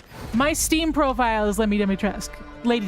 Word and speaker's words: Dimitrescu: My Steam profile is Lady Dimitrescu. Lady Dimitrescu. Mission failed. Return to base. The fact that I know how to pronounce her name should be sentiment enough about how much I simp for that woman.